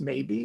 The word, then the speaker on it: Mabie: New writer, Mabie, and it is pronounced maybe, even though it's spelled Mabie.